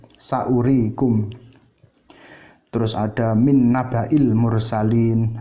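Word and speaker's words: سَأُورِيكُمْ: Kemudian yang tambahan waw, misalnya saurikum ayati, saurikum, di situ wawnya waw tambahan, dibacanya tetap pendek, saurikum.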